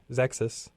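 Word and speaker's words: Xexyz: You've got the project Zexus. At least that's how I always pronounced it when I was playing the game on Nintendo.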